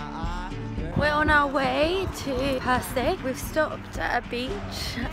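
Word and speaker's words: Percé: Perce.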